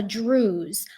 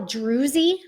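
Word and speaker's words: druse: we call this a druze. A lot of people call it druzy. The proper geological term is druze. The E at the end is silent, but a lot of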